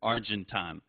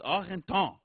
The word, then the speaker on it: Argenton: He says, like most of you, Argentine or Argent. It's just wrong. It's wrong. It's Argenton, you know? And you gotta go for the French pronunciation. At least give it a shot.